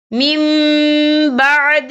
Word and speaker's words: من بعد: ذلك۔ یہ دیکھیں میم، یہاں نون ساکن ہے، نون ساکن کے بعد با آ رہا ہے، تو یہاں پر انقلاب ہوگا یعنی تبدیلی ہوگی، تو ہم یہاں میم کا تلفظ کریں گے، ہم پچھلے میم کو اگلے میم کے ساتھ ملا کر پڑھیں گے اور ہم یہاں غنہ بھی کریں گے۔ کیسے؟